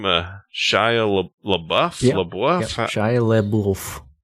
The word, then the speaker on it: Shia LaBeouf: Is that how you pronounce the name? Shia LaBeouf?